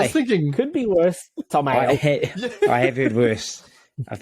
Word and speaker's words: Tom Ale: Or you put his two names together in tamale. I mean, tamale. Tamale. Hot tamale. And that's exactly how you say his name, Ale. I mean, I don't think you'd ever do a say my name for a guy who's got like 3 letters in his first name and then 3 letters in his surname, but there you go. Tom Ale. Not LA.